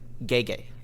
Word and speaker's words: Gege: Well, what's interesting about the similarities is the how do you pronounce the main author's name? Gege. Gege.